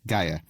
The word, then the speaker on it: Gaia: common due to the Gaia hypothesis, in which case its pronunciation is Gaia, rather than the more classical Gaia.